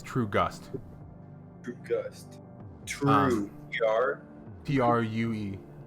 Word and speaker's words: Truegust: Is it True Goose or True Goose? I said it wrong. It's True Gust.